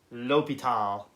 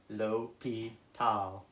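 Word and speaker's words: L'Hôpital: this well actually it's the way you pronounce this is l'hopital lo P tau now what on earth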